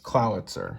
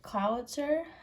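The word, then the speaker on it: Clawitzer: Clowitzer. Clowitzer? Like Howitzer is the name of it. The cannon. Yeah. Okay. Clowitzer.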